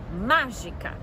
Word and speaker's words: mágica: Então, vamos lá pegar mágica. Mágica. Mágica, última, penúltima, antepenúltima, proparoxítona.